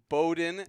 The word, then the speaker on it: Bowden: That'll wrap it up for this week for James Shannon and Bowden, as Yeah. it's properly pronounced.